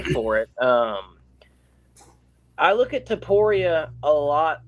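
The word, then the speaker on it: Topuria: Justin Gaethje and Ilya Taporia is the proper pronunciation of those fighters' names.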